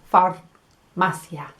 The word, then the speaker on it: farmacia: gonna say farmacia the the letter R lands on the roof of my mouth right at the front far masya so hoy voy a